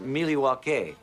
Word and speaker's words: Milwaukee: Indian name yes Pete it is actually it's pronounced milw which is El gonin for the good land